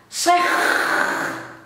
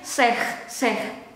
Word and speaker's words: zeg: This one say in Dutch zeg. But again in daily conversation I kind of tend to zeg because I was lucky before I pronounced it this seconds ago. I have quite enough liquid in my mouth, so I can zeg. But this is not all the time. This is sometimes it's seh, yeah.